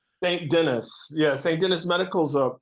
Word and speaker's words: St. Denis: one of the interviews, so I'm saying it wrong if I say St. Denis Medical, right? It's not. St. Denis.